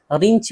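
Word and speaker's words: wrench: इसी तरह रेंच, रेंच जो है ऐंठन या पीठ जो घुमाने का औजार होता है उसको रेंच बोलते हैं, रिंच भी बोलते हैं, असल है रेंच।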